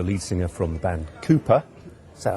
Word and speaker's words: KOOPA: Well, let's talk this one through now with Joe Murphy, who's the lead singer from the band KOOPA. Is that how I pronounce it, Joe? That's correct, yes. KOOPA, spelled with an A.